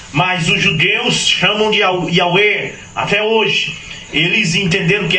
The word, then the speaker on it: Yah: seu nome é Yah Y H w h pronuncia-se Yah que quando Jesus manifestou